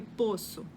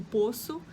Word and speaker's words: poço: o verbo poder né eu posso e a palavra né o poço eu não conseguia pronunciar de forma diferente outras outras palavras que